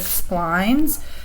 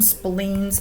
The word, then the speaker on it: splines: Next I'm going to go into cubic splines. Do not call them spleens. Apparently some people call them cubic spleens, but spleens are organs of the body. These are splines. It rhymes with lines.